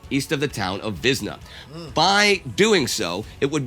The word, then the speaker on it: Wizna: I think I said Windsor when it was Wiznner and now I guess it's pronounced Vizna. The W gets a V sound.